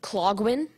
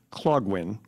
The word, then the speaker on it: Clogwyn: EXPERIMENT OUTS -- CLOG WEEN. THE PRIMARY PRONUNCIATION IS CLOG WHEN, ALTERNATE PRONUNCIATIONS ARE CLOG WEEN OR CLOG WHEN. IT IS VERY SUBTLE.